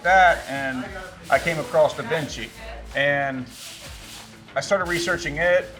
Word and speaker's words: DaVinci: We install Da Vinci. Da Vinci. He just changed it. He was pronouncing with how how were you saying it? Dainci.